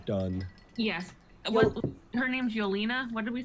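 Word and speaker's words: Yelena: do before we're done yes what her name's yolina what did we say her name was Yola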